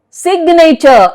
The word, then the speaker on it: signature: Then signature, S-I-G, see, it is in the middle, so sig, we are pronouncing the G.